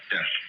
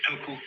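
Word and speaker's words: 德: meaning of this word, de. The Japanese pronounce it toku, the Cantonese dak, and the Northern Mandarins approximately de.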